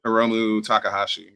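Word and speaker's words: Hiromu Takahashi: Yeah, I probably mispronounced the name. You probably know. Heromu Takahashi.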